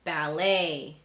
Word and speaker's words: ballet: So in words like ballet, rapport, gourmet, chalet, and cabaret, the T is silent.